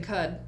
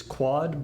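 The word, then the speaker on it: Qud: It's just cud. It's not quad. It's cud or quud.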